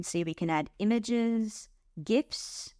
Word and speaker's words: GIF: we can add images gifs I do pronounce it with a hard G uh YouTube videos you